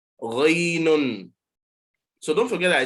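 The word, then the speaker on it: غين: Now, so previously, I haven't had you pronounce this, but so many people make mistakes. They say gain. There's nothing called gain. Ghainun.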